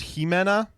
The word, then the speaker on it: Ximena: It's pronounced Jimena.